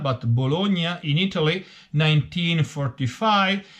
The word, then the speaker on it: Bologna: Please remember that Bologna, well, I'm using the Italian pronunciation, it's not Bologna, but Bologna in Italy, 1945.